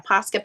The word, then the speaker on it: Posca: Yeah, Posca paint pen.